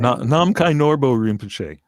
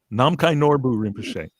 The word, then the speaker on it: Namkhai Norbu Rinpoche: And I'm going to let you pronounce the name. Namkhai Norbo Rinpoche. Namkhai Norbu Rinpoche.